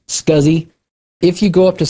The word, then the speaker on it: SCSI: by the way in the industry it is pronounced scuzzy if you go up to somebody and say